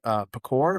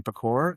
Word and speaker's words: Pecor: Brian is like, Pecor, Brian Pecor. And Kevin goes, it's Pecor. And he goes, no, it's French. And turns out it's true. It's French.